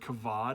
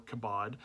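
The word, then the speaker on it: כבוד: And so the word in Hebrew is going to be the word kavod or kabod, depending on how you want to pronounce that second letter.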